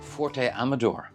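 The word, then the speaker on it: Fuerte Amador: Forte Amador, I'm told is how you pronounce where we are.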